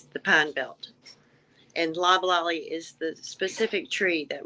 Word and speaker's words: Loblolly: Pronounce it for me. Loblolly.